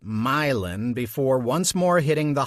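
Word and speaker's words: Moline: the decaying Berg of milin which locals pronounced milin before once more hitting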